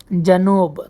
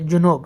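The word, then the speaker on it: جنوب: শিমাল শিমাল অর্থ উত্তর জানুব দক্ষিণ জানুব অর্থ হচ্ছে দক্ষিণ এখানে আবার রাজনবীরা ভুল করে তারা বলে জুনুব এখানে জুনুব হবে না এটা হবে জানুব জানুব অর্থ দক্ষিণ মা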